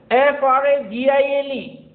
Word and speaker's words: fragile: English, and the same ILE is pronounced as UL in American English. We generally get confused कि ये दोनों में सही क्या है? Both are right. You may use any one of them. FRAGILE, fragile, but in American English, fragile, all.